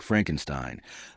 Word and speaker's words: Frankenstein: Frederick Frankenstein, the grandson of the famous Victor Frankenstein.